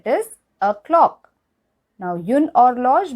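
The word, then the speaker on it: horloge: a clock now yun or log means a clock and h is silent here or log a bottle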